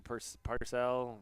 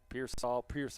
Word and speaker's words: Pearsall: I mean, obviously the Ricky Parcell or Pearsall is how you say it.